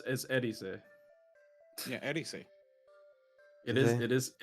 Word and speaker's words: Eris: Ares says that you're saying it wrong if you say Ares. Eris.